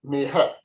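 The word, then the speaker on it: Ma'at: Mahat or Mahat, pronounced Mehet. Mehet.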